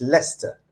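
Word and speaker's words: Leicester: And Leister is actually pronounced Lester.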